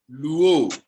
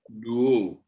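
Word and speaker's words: λύω: You pronounce it as luo. All right? Yes, sir. Lambda is pronounced L, upsilon is pronounced U, omega is pronounced O, and together it becomes luo.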